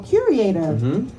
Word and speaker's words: curator: a fruit or so curator I'm I'm not even pronouncing it right say it again curator curator I said right it's like cure cure okay got it now